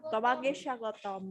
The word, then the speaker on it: তোমাকে স্বাগতম: Can you repeat the pronunciation and the intonation to say tomake? Tomake sagotom. তোমাকে স্বাগতম. Sha. Sagotom. Oh, sha. Tomake shagotom.